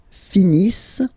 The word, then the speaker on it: finissent: Ils finissent. So remember, as usual, when we've got the verbs E and T not pronounced.